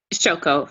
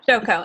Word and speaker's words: Shoko: And then you realize Shoko, how do you pronounce her name? Shoko, yep. Shoko.